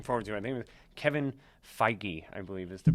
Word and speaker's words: Feige: So some of the things we have looking forward to, I think Kevin Feige, I believe is the pronunciation of the Marvel executive who is at Comic-Con talking about these things.